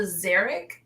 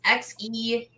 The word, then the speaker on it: Xeric: I believe it's the Xeric Award. It's XERIC. I just pronounced it as Xeric.